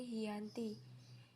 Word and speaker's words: Giyanti: yakni di desa Janti dalam pelafalan Belanda ia disebut sebagai khianati dan secara tertulis ia terbaca sebagai Giyanti tempat tersebut sekarang dikenal